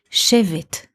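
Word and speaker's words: שֵׁבֶט: a noun which is written in the same letters but pronounced a bit differently shave it Shiv it means in Hebrew a rod a came a stick save it save it those letters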